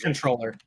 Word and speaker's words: comptroller: Yeah, Yeah, was gonna it's say that's pronounced the- controller.